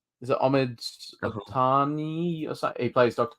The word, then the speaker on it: Abtahi: Is it Ahmed Abtahi or something? He plays Dr. Pershing. How do you say that? What is his last name again? Abtahi, yeah.